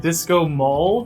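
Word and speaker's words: Disco Maul: but but number two it's called disco Mall which rhymes with disco balls yes that was a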